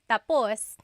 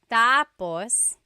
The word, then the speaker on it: tapos: So when it's tap tapos when the emphasis is at the end tapos that means finished. When the emphasis is on the first syllable tapos then it means next.